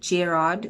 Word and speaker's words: Gerard: expert a qualified psychologist i had mentioned gerard which is how you pronounce it not like how i said it in my last video but anyway gerard was